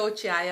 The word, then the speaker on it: Ochiai: Na verdade é Ochiai a pronúncia, né?